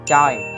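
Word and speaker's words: 최: Cái từ Choi này các bạn phải đọc đúng là Choi.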